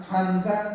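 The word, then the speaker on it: همزة: ত হা স্বাদ লাম জ দদ হা বা, উল্টা দুয়ের মতোই দেখা যায়, হামজা তার নাম, হামজা তার নাম। হামজা উচ্চারণ কেমন হবে? হামজা হলকের শুরু হতে শক্ত ভাবে আদায় হবে।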